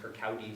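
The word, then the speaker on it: Kirkcaldy: in a tiny town called Kirk audi's gatos pronounced Kirk Aoi Scotland if you know something about the geography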